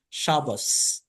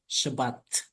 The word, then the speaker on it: Shabbat: So when you're Ashkenazi, you would always be saying Shabbos, and when you're Sephardim, you would say Shabbat, right?